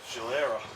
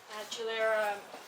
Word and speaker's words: Gilera: Hey everyone, I have Gulia here from Tanks and Tailpipes and they've entered this beautiful Gilera. I hope that's pronounced. Gilera, yeah, you got Gilera.